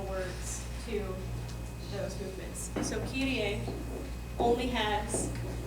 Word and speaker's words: Kyrie: What do we know about K? It's always hard. What about Y? E. Okay, what about the R? If it's in between two vowels. It's not wrong. Split, right? Okay, I. Okay, and an E. Say that. Kyrie.